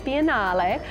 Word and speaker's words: biennale: is Venice of course they pronounce at the European Way venice biennale and that was founded in